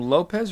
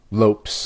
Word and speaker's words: Lopes: the featherweight division I say his name Lopez or Lopes remind me Lopes Lopes in his Lopes okay Diego Lopez taking